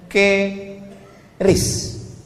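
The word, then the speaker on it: QRIS: Sekarang di pintu-pintu masjid, di pintu-pintu mall ditulis ada namanya ke ris q ris. Cara bacanya gimana sebetulnya? Keris.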